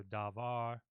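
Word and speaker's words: דָּבָר: not all the time so when you see comets you want to say ah so da VAR however there are times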